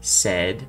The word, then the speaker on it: said: Então, esse said você vai usar para dizer disse, dito, e a letra, a vogal, né, que a gente está trabalhando no caso, soa como é.